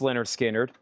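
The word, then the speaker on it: Lynyrd Skynyrd: 1999 and Leonard Skard pronounced Leonard Skard.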